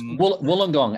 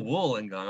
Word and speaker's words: Wollongong: It's Wollongong, as in wool. Oh, Wollongong.